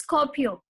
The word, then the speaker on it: Skopje: Now, how to pronounce this word? This is Skopje. Okay, Skopje, Albania.